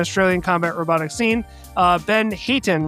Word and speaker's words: Hayton: Our guest tonight is one of the most influential figures in the Australian combat robotics scene, Ben Hayton, right?